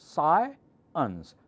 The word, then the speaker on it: science: science is not correct this one has two syllables sigh ins science science okay if you're